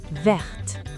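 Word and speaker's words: verte: When used to describe feminine nouns, it becomes vert. The T is pronounced here.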